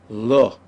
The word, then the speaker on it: לא: and so clearly recognized, everyone just knows to pronounce it as lo.